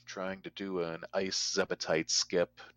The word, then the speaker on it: Zebetite: And I usually often refer to those with the full 3 syllables, Zebetite, because Zebs are another enemy in the game.